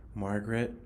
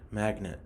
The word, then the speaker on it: Magnet: You pronounced the word magnet correctly. At first, you kind of pronounced it like Margaret, but then you said magnet instead.